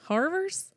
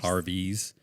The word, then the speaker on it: Harvey's: Harvers? Harvers. Never been to Harvers. Harvey's. Okay. Every time you say it, people are like, Arby's? No, not Arby's, you jackass. Harvey's with a V and an H, and it's spelled different.